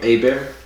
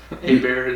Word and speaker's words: Hébert: It was Herbert, or in Creole, Hébert. Hébert is... Okay, you see the word Herbert? It's for Herbert. Okay? And in Creole, it's pronounced... That word is pronounced Hébert. Huh.